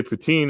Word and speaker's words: poutine: sex work industry but pen is you say poutine it's a it's a dish made made with